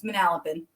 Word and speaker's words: Manalapan: Manalapan. Uh, we lived in Manalap and we moved from Monroe Township where this happened to Manalapin. Yeah, it's Manalapin.